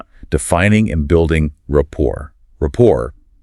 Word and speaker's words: rapport: Rapport, pronounced rapport, is really the ultimate goal of this initial phase of a conversation.